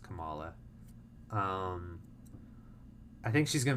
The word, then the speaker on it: Kamala: I love Kamala or Kamala I keep saying Kamala because Kamala Harris but it's pronounced Kamala um I think she's gonna be amazing in